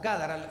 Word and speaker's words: Gádara: El pueblo de Gadara, o Gádara le pronuncian otros, era la capital de la región sureste del mar de Galilea.